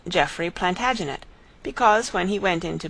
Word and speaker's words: Plantagenet: covered with his visor the Latin name for broom is planta janista and gradually it came to be pronounced Plantagenet although Geoffrey was French